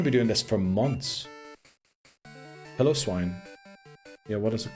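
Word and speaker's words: Piloswine: Pillow-Swine. Yeah, what is it called? Pillow-Swine. It doesn't have piles. Pile is spelled P-I-L-E, right? It's like pillow. Just without the W.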